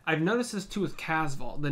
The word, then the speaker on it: Casval: There's no T, but then sometimes they'll say Castval or Casval.